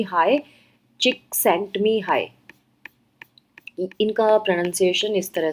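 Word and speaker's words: Mihaly Csikszentmihalyi: यह जो लिखा है इसको पढ़ते हैं मी हाई एल साइलेंट है इसमें एंड यह अ चिक sent me high so again अगर आप देखें तो जड नहीं प्रोनाउंस हो रहा और यहां पे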